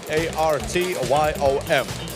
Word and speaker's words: Artyom: A-R-T-Y-O-M. Artyom. Yeah. That's pretty much it. Just Artyom.